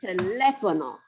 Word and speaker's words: teléfono: And then teléfono. Teléfono. Okay. Teléfono. So those accents tell us we got to punch that syllable.